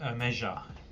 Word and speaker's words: Omega: We'll call it Omega. Omega. That's how you pronounce it.